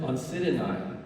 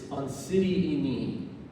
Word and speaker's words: Oncidinae: I used to pronounce it Oncidinae. It's Oncidini.